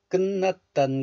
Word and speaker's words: 끝: This letter is pronounced as kut in isolation, kut. The final consonant tiut belongs to tigut group, t group. But this final consonant tiut is followed by the nasal consonant niun of the next letter.